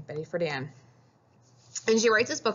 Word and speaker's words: Betty Friedan: And another piece that is the foundation is this lady right here, Betty Friedan. That's how you say her name, Betty Friedan.